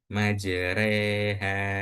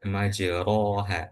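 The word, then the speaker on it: مجراها: Majreha wa mursaha. Jadi ini bukan dibaca majroha bukan tapi majreha bacaan ini ingat ini adalah ayat-ayat qaribah.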